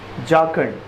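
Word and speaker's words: jocund: In such A जाखंड company, the pronunciation is जाखंड.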